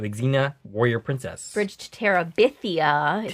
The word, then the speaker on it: Terabithia: Bridge to Terabithia is how that's pronounced.